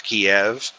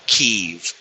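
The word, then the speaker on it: Kyiv: So you are constantly hearing people pronounce it as Kiev. But I think the proper pronunciation of it is now Keev, but Russia bombed Kev.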